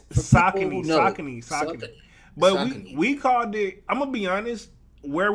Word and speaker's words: Saucony: daughters man what's this salconies salsa meat it's saucony i'm gonna be honest where are we from